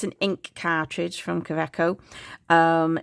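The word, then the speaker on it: Kaweco: Um, so I know the W is normally pronounced with a V.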